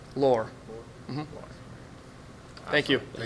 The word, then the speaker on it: Loer: Loer.